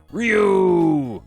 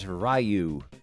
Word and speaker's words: Ryu: scores a triple hit Ryu or back in these days we pronounced it rayu rayu was born in